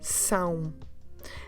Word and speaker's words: São: In Portuguese, S, A com tilde, O. São.